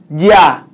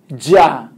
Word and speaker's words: ya: So this is ya. Ya, je, ji, jo, ju. Ya. Alright? Ya. Ya. It's not ja. A lot of people, they say ja. No, it's not ja.